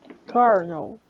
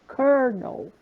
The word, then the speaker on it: colonel: Kernel. Kernel. Apesar de não ter R, a gente pronuncia essa palavra com R. Pode repetir, por favor? Como? Kernel.